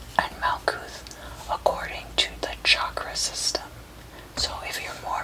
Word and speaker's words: chakra: be your solar plexus chakra chakra sorry it's important to pronounce chakra correctly it's a hard cha and not a soft shot so you can see